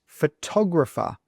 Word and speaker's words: photographer: Well, the answer is photographer. Photographer. So if you listen, this tog sound is spoken much. Well, not much, but a little bit louder than the other sounds.